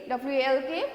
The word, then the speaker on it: walk: WALK we only say walk, MORE more, WRAP wrap, JOKE joke we only say joke.